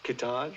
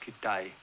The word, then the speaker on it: Kitaj: Kitaj. No, it's pronounced Kitai.